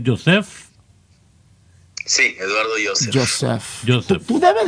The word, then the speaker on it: Yosef: Sí, Joseph. Sí. No, pero yo lo puedo pronunciar mal, pero él no debe.